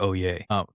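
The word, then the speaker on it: Olier: And when I say father Oay, that's how I'm pronouncing O L I E R. Father O Yay.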